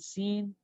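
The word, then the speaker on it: س: And seen is seen. This W brings a kind of heaviness with the filled mouth. Sad, seen. All right. Sadr means chest or chest. Seen, salam, salamun alaykum.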